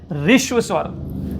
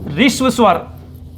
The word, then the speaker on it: ह्रस्व: तो ध्यान रखिएगा, इसका सही उच्चारण है ऋष्व स्वर। क्या है? ऋष्व स्वर।